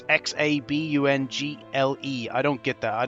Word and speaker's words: Xabungle: And that is the racing action, Sento Mecha Zarbuncle. Yeah, I don't know how to pronounce it, right? Zarbuncle, I think it's pronounced. It's Xabungle.